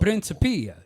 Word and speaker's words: Principia: prinia yeah so so stress on the third so principia you say it like Italian yes prinia discordia cuz I mean that's you know they were Italian yeah yeah all right